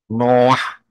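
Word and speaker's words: נח: Jadi bacanya dari kanan ke kiri, itu aksaranya Ibrani, Nun dan Shet. Noah, ya itu bacanya.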